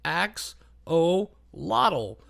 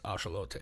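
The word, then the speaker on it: axolotl: It's just axe o lottle. Uh, and then she was just like, "Actually, it's Ashelote." And I was like, "What?"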